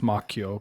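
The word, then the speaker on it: Macchio: Actually, it's pronounced Mchio, but um go off king.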